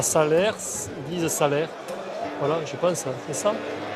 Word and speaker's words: Salers: On ne dit pas Salers, on dit Salaire. On dit pas Paris. Non. On dit Paris, mais là c'est Paris. C'est que les touristes qui disent Salers. On ne prononce pas les dernières lettres en Auvergne.